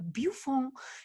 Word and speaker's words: Buffon: insistía muchísimo en pronunciar el nombre de Buffon correctamente. Entonces, cada vez que hablaba de Buffon decía Buffon.